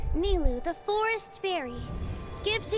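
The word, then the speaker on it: Nilou: Oh, maybe Nailu can turn him into something. Curse. Huh? Nilu?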